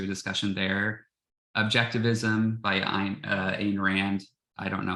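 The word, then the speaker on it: Ayn: discussion there objectivism by Ein Rand I don't know how to pronounce the first her first name um the happiness pump idea yes okay thank you she did it to sound like I um moral dessert and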